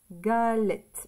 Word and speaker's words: galette: ça ça fait g Gal on entend le L et et galette le son et c'est e double t une 2 comme ça